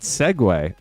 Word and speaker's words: segue: I always saw this word, but never knew how to pronounce it. But segue, I'm pretty sure, correct me if I'm wrong, is actually S-E-G-U-E. Doesn't make any sense at all, but I think that's right.